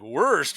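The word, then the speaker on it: Wurst: Like, so somebody who doesn't know German to be like, worst? What do you mean worst? Oh, no. W-U-R-S-T. Mm-hmm. Worst is how they say it in German.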